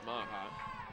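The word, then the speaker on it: Meagher: Maha. Name looks like Magyar, M-E-A-G-H-E-R, but it's pronounced Maha.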